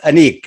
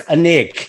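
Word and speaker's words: Anek: okay so firstly um the film is pronounced Anique right yes okay good because I was having this big my mom was like um I'm sure it's anik and I so we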